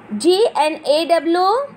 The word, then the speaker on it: gnaw: GNAW, gnaw. Because here G is silent.